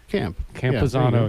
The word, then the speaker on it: Campuzano: Even though it's actually spelled kind of how it sounds, particularly like you pronounce the first four letters like in our Anglo tongue, Campuzano, yeah, for sure.